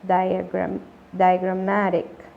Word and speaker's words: diagrammatic: Nótese el sonido largo de la vocal I al comienzo. Diagrammatic.